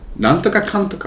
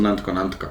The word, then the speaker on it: なんとかかんとか: Nantoka kantoka. うん。 Shirankatta. I thought it was nantoka nantoka.